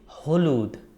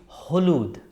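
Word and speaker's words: হলুদ: Yellow is Hooluud. Look how I pronounce. It's Hooluud. Hooluud is yellow.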